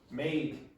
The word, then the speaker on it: made: So again, it's mate, made the second the second it's longer.